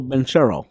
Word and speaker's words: Banchero: My preseason pick, was Pablo Banchero. Mm-hmm. I'm gonna roll right back with my midseason pick. Yeah. Pablo Banchero. Just go with P5. I ain't saying it right. It's Pablo. It's Pablo. Banchero. Ah, yeah.